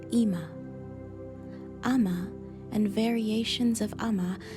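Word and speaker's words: אמא: another form of mommy in hebrew commonly pronounced ima ama and variations of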